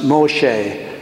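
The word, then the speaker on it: משה: the time of Moses named Moses is pronounced Moshe and it means I drew him out of the water now Moses was and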